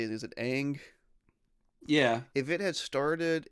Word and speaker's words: Aang: Is it Aang?